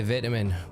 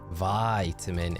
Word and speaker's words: vitamin: It's a long I between the V and the, and not if you're from England though. Vitamin if you're from America. Vitamin if you're from the UK. So yeah, I am saying it right, but in the US, you guys, you do have the long I. Get your vitamin, but it is vitamin in the UK.